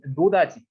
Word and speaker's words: 노다지: This pronunciation of no touch, we Koreans misunderstand it and change 노다지. 노다지 is saying so similar in pronunciation, so similar in no touch, 노다지.